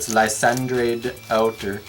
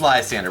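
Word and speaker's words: Lysandre: in case I get Landre outer. And now I'm having this troubles trying to pronounce it wrong on purpose. I'm making you think about it now, huh? Well, I know it's Lzander, but I'm trying to say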